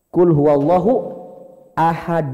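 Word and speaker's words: قُلْ هُوَ اللَّهُ أَحَدٌ: itu rumusnya minimal pokoknya kalau tanwin patah Thailand dhommatain kasrohtain ketemu Alif ditambah tuh Non kasrah sehingga ayat ini kulhu allohu ahad cara baca yang tepat adalah kulhu allohu ahad dunillah kalau disambung kalau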